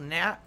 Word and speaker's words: gnat: It's spelled Nat with, isn't it G-N-A-T is how you spell it? G-N-A-T, Nat?